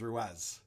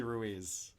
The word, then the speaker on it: Ruiz: I don't understand why he still thinks his last name is Ruez, but it's obviously Ruiz.